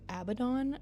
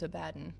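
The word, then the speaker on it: Abaddon: Um, a lot of people pronounce that name as Abbon, which it I don't know why it just gives me the ick so bad whenever I hear people say Abdon. It's Abaden.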